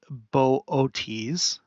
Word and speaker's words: Boötes: Okay, so it was there first, and then it went into this constellation, pronounced Boötes.